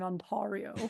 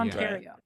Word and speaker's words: Ontario: Yeah, I'd love to talk about what happened in Ontario.